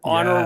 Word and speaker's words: honor: We're going to have a honor roll or an honor roll if Yes. you like, if you're not pronouncing those H's like nobody else does.